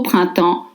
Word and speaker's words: printemps: You don't pronounce the consonants at the end of French word. You drop the PS and use two semi-vowels, un et en.